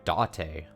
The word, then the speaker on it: Dante: a detective uh detective Dante is his name it's it's spelled just like date but it's Dante and he's got uh